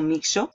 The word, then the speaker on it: Mixo: a mostrar el sitio se llama mixo o mixo o mijo o miso porque la x tiene muchas pronunciaciones yo le llamo mixo y fíjate que dice